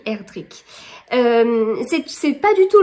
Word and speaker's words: Erdrich: sentence de Louise herdrick j'ai bien noté he la prononciation parce que moi je vous aurais dit herdrich mais non non ils ont bien dit herdrick c'est c'est pas du